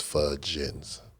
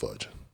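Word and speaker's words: Fugins: bigger than everybody but fudge is is a part of the pronunciation of my last name so it's it's it's spelled f u g i ns but it's fudin so it's just fuding it works what other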